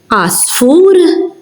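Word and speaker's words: għasfur: So, here we have, for example, asfur, which is bird, elii, fields, oli, high, ar, cave. As you heard, I didn't pronounce it. It is silent.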